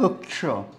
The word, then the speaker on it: क्ष: जैसे हम अक्ष में अ को हटा दीजिए तो क्या बचा? क्ष, क्ष। तो ये वही उदाहरण है, ठीक है। ये इसका सही उच्चारण यही होता है। तो ये अक्ष नहीं होता है, क्या होता है? क्ष, क्ष, ठीक है।